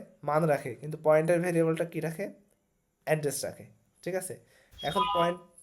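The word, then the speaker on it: char: ক্যারেক্টার দিলে ক্যারেক্টার টাইপের অনেকে কিন্তু এটাকে চার বলে হ্যাঁ চার না কেন এটার উচ্চারণ কি কার ওকে আচ্ছা এখন হচ্ছে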